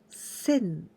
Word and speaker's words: 洗: And we pronounce ara or sen. In this case, onyomi sen is quite easy to remember because only this part, the right part, this is like sensei, teacher. So you know this is sen, you pronounce sen.